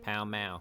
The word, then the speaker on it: Pall Mall: Palamaglio, or Pall Mall, the pronunciation of which can still be heard in London today, when locals pronounce the street name of the same name, Pall Mall.